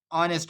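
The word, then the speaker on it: honest: इस तरह ऑनेस्ट में एच साइलेंट है।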